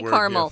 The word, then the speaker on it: caramel: Caramel? Yeah, there are different ways to pronounce that word. Yeah, I say caramel. Yeah. So it's caramel or caramel, up to you.